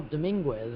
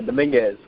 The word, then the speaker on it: Dominguez: But Kyle Dominguez, I believe I pronounced that right. Did I get that right? Nah, Dominguez.